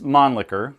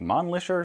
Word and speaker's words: Mannlicher: podcasts um so it's you could say it's Mon liquor because I guess that's a little bit a better way of saying it sounds a little less funny but really the German pronunciation of it's gonna be a lot closer to something like Mon liquor so you know you